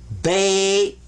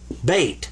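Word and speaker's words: بيت: Sukoon means don't pronounce it, but give it some value anyway. This is bait. Bait, house.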